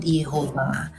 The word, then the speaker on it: Yehova: itu kan Yehova itu adalah orang berusaha membaca Yod he Va jadi Yod he Va he lalu orang masukkan huruf hidup untuk bisa baca lalu disebut Yehova tapi ada orang lain juga versinya Oh bacanya itu menambahkan a lalu menambahkan e jadi yahwe ada yang membuat yeha